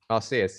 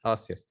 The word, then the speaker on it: Arceus: just just pause there that's how you pronounce it i'll see us yeah oh yes yeah okay like uranus but arceus um the the uh